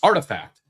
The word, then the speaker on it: RTFKT: The company last month quietly sold Artifact, pronounced Artifact.